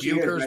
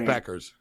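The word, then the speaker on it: Bueckers: It looks like Buchers, but it's Beckers. She's on UConn. South Carolina are the best team. They haven't lost a game all year. Like there's Beckers for 3, and she misses.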